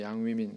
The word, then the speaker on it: 양위민: 그런데 우리 교회 신앙에서 벗어난 YM이라고 하는 양웅민, 양위민, 중국어 발음은 양위민, 그렇죠?